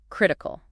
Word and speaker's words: critical: Critical. This word is critical with the stress on the first syllable.